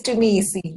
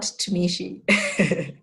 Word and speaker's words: Tumisi: It's Tumisi, not Tumishi.